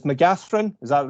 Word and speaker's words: McCaghren: read it, I say Mccaghren. With a PH. With the PH sound in the middle, yeah. Even though it's a GH, I just tend to go with the Mccaghren.